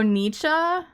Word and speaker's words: Nietzsche: What am I mispronouncing? Cha? Not Che? Oh, Nietzsche?